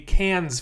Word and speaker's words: Cannes: Festival film, or a Cannes Film Festival film. If you've only ever seen that word written, you don't pronounce the S, it's just can.